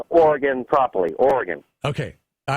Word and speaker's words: Oregon: You got to say it right, though. It's Oregon.